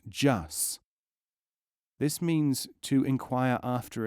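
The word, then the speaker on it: جس: The word is pronounced jus.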